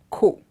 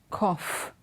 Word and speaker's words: cough: The first word also has a similar O-U-G-H spelling, but it's not ko. It is cough. The O sound becomes f, but the spelling remains the same.